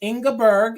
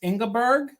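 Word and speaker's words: Ingborg: is it is ingberg it's ingberg and it's spelled i n g b o r g it's ingberg which is very German inberg which would be very um it would be correct for to be a Pennsylvanian person I see is Sarah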